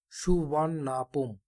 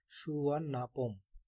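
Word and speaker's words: Suvarnabhumi: দ name সুবর্ণভূমি pronounced S সুবান নাপোম। সুবর্ণভূমি এ নামটাকে তারা উচ্চারণ থাইল্যান্ডের ভাষায় উচ্চারণ করে থাকে সুনাপম।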